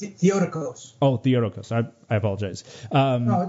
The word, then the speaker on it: Theotokos: Right, it's pronounced Theotokos.